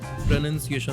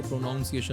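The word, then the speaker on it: pronunciation: प्रोनन्सिएशन होता है लोग उसको प्रोनाउन्सिएशन बोलते हैं।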